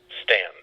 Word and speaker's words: Staunton: in Virginia sta you and t om is pronounced Stan huh well I guess that's my fault or